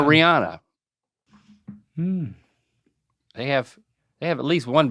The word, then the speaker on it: Rihanna: He is married to Rihanna. Oh my goodness. And some people call her Rihanna.